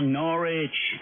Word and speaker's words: Norwich: Ah, Norwich. Okay, fine. Rhymes with porridge, but is not spelt that way.